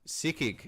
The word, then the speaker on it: S2G: Fun facts, S2G is pronounced sikik in Turkish, which kind of means like fucked.